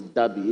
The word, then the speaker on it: Deby: His Excellency Muhammad Idris Deby Itno. His Deby is spelled D-E-B-Y. There's no R. There's no R in his Deby. It's Deby, D-E-B-Y.